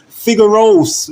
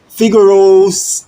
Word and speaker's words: Figaros: Figaros 11 or 11. You know what I'm saying? Yeah. Hey, go follow her, okay? Figueroast. Figaros. That's how I pronounce it, you know? Figaros. Like, Figaro's.